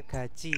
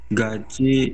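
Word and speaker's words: 같이: Bacanya gaji ya. Ini bacanya gaji sarayo.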